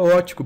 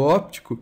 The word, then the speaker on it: óptico: segundo responsável pela visão a pronúncia Tecnicamente correta seria ótico porque isso aqui é um P mudo só que muita gente acaba preferindo destacar esse P do óptico porque a palavra ótico sem p na escrita é referente à